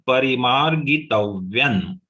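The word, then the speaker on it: परिमार्गितव्यम्: Here only ma is only 1 letter, that is long letter. Everything is short.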